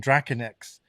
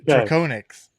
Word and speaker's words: Draconyx: But then I was always saying Draconyx, but it's not. It's actually pronounced Draconyx, which makes a lot more sense. Yeah, and one of our